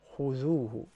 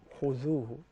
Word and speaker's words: خذوه: Like for instance, خذوه. That's ذال. خذوه. So there are three letters where you gotta stick the tip of your tongue out, which is the tha.